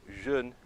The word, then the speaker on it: jeune: E por eliminação, jovem, que é com EU, você se lembra da pronúncia do EU, que é E. Então, jeune, jeune, jeune.